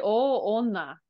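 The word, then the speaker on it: 大女: It's actually o onna. Jo is a good guess, though. Sometimes this will be pronounced with o jo. But in this case, o onna.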